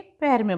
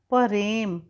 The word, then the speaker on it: प्रेम: ज और ज के पैर में मात्रा वज्र। अगला वर्ण है परेम, प्रेम नहीं होता है, शुद्ध शब्द होता है प्रेम, तो प्रेम। देखिए प और र का उच्चारण एक साथ है तो हम इस तरह से लिखेंगे प्रेम।